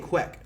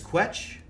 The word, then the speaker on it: Quetch: I was saying Quek. Like Chocobo Quek. But it's Quetch. It's T-C-H.